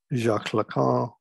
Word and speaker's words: Jacques Lacan: His disciple, also shown here smoking a cigar, the French psychoanalyst Jacques Lacan, that's how you pronounce his name, developed this notion of the real, imaginary, and symbolic, as you see here.